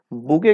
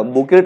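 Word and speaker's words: bouquet: बुके का spelling भी exam में आता है, बी ओ यू क्यू यू टी, याद रहेगा, बुकेट नहीं बोलेंगे, टी साइलेंट है, बुके, बी ओ यू क्यू यू टी, बुके, ठीक है।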